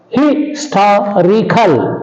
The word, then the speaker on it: historical: Historical, on the anti-penultimate syllable.